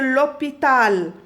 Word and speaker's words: l'hôpital: Parce que il y a ici un H muet. ما فيني نقول le hôpital, E ou O حد بعض, non.